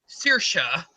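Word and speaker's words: Saoirse: Sihanouk, it's pronounced Shinna, or Sorshi is Sirsha.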